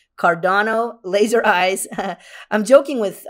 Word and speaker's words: Cardano: joking in the chat about the pronunciation it is cardano not cardano so i'm trying to